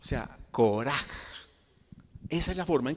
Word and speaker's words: Korah: Ko, ¿sí?, O sea, Koreshet, o sea, Koraj. Esa es la forma en que se escribe en el idioma hebreo.